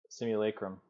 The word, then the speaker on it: simulacrum: the tape on this it is said like this simulacrum it's um let's call